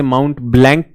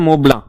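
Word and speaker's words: Mont Blanc: क्या है highest peak आप इसे माउंट ब्लैंक कहेंगे प्रोनाउंस होता है मोबला मोबला ठीक है मोबला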